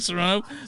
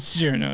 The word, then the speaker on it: Cyrano: But anyway, I pronounced it like Serrano pepper for a minute, like Serrano, but Cyrano. Yeah, Cyrano. Because I'm stupid.